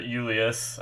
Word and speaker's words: Julius: like that thing where the j is more pronounced as like a y or something or just silent because i'm pretty sure